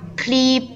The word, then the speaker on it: ครีบ: น้า ใช้ มีด ตัด ครีบ ปลา น้า ใช้ มีด ตัด ครีบ ปลา ครีบ กระดก ลิ้น ไหม คะ กระดก ลิ้น โน้ต ครีบ